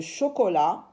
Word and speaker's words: chocolat: On voit ici, bien sûr, une tablette de chocolat. On a la syllabe ko. C'est avec o, ko. Ch avec o, chaud. L avec a, la. La lettre T est une lettre muette qu'on n'entend pas.